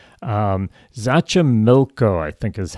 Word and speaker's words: Xochimilco: Xochimilco, I think is how you pronounce it. It's Xochimilco.